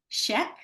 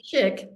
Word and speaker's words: Schick: friend and colleague Nancy Sheek did I say it correctly Nancy it's chick but close enough chick like Chic that's exactly what it translates as in German but I don't know